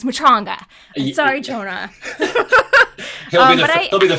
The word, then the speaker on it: Matranga: thing with jonah uh i always say his name wrong you said matronga so i've always said it wrong as matrangas so it's mutronga sorry jonah he'll be the first to be